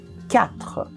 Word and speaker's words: quatre: Mas a diferença é que o U em francês não se pronuncia. Então a gente vai dizer quatre.